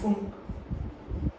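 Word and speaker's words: Pfund: Lyman series है, Balmer series है, Paschen series है, ब्रैकेट सीरीज, फुंड सीरीज है, फुंड पी साइलेंट होता है बच्चों, फुंड सीरीज।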